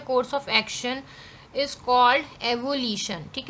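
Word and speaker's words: avolition: एवोल्यूशन जो है ये कहलाता है, एवोशन नहीं है वो, एवोल्यूशन है।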